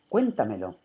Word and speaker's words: cuéntamelo: Por ejemplo, cuéntamelo. Cuéntamelo lleva acento en la anterior a la antepenúltima sílaba.